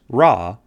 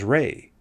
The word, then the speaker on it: Ra: The god of the sun in ancient Egypt was called Rah, pronounced Rah or sometimes even as Rey.